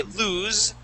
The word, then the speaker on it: lose: loosing it all right if we say lose that is with one o that is losing it